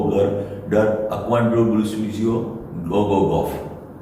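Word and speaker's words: Gogogoch: वो आप पढ़ोगे तो GOGOCH एंड में, तो वो तो गो गो गॉच होता है, गो गो गॉच, पर वो वेल्श में लिखा गया, वो उस गांव का नाम वेल्श में, तो उसका प्रोनाउंसिएशन भी राइट बोलना पड़ेगा मुझे। तो मैं जब बोलूंगा तो गो गो गॉफ, गो गो गॉफ, CH 4 हो जाता है।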